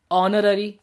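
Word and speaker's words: honorary: अच्छा, अब कुछ हमारे वर्ड्स है जैसे कि आर, ऑनररी, ऑनेस्ट, तो इसके अंदर ये एच होते हैं, ये साइलेंट होते हैं, है ना।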